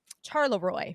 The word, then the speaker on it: Charleroi: Charleroi is how it's pronounced, I believe.